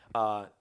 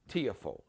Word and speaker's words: Tiafoe: area, from like Prince George's County, Maryland, Tiafoe. Yeah, Francis Tiafoe, I believe I'm pronouncing, because I've heard all these different pronunciations. Tiafoe, Tiafoe.